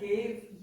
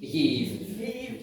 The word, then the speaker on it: gheibh: So how do you pronounce that? Gheibh? Gheibh. Yeah. It's like a constipated Y.